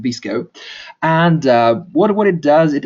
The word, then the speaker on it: VSCO: It's there's VSCO, you pronounce it Visco, and what it does,